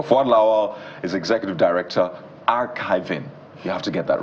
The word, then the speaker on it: Archivi.ng: Fuad Lawal is Executive Director, Archivi.ng. You have to get that right, even though it's Archivi.ng, but it's archiving when you pronounce it in full.